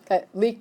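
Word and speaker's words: liegt: try and Minnesota leaked leaked isn't it pronunciation wise sounds like something's dripping water something it's a leaked what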